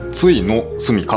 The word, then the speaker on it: 終の住処: つのスカねちょっと読みづらいですけどついついのすかと読みますねこれ小説です